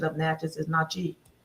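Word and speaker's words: Natchez: Actually, the correct name for the pronunciation of Natches is Nachi.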